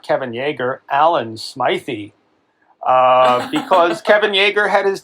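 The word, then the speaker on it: Alan Smithee: I've been pronouncing it Alan Smithy, but that interview with Adam Scott I sent you. Oh yeah. He pronounced it Smythe, so I trust anything Adam Scott says.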